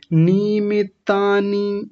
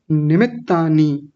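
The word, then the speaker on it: निमित्तानि: निमितानी ऐसा करके बोला जबकि क्या है? निमित्तानी ये छोटी इ की मात्राएं हैं बिटिया।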